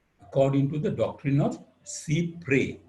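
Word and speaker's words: cy-près: to the doctrine of C pre you pronounce it as C pre Cy p s c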